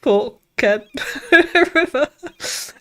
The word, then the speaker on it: Forked River: Then I remembered there's a town near me called Forked River, pronounced Fork Ken River.